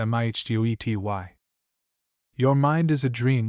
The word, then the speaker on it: mitote: Your whole mind is a fog which the Toltecs called a mitote, pronounced mihtety.